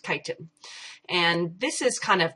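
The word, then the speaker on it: chitin: is spelled CH i t i n okay pronounced kiten and this is kind of crunchy and the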